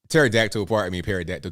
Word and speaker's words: pterodactyl: He also says, or they also say, military check out technical _ pterodactyl. Pterodactyl, the P is silent.